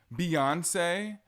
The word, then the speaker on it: Beyoncé: her name is Zendaya Beyonce when it says b-e-y that is not bae you are not a part of the bay Hive B iancee Queen Bay Beyonce Queen Bay where do